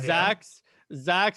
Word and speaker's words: Zzzax: All right, so we have Zax, except it's spelled kind of like it was created by George Lucas, ZZZAX.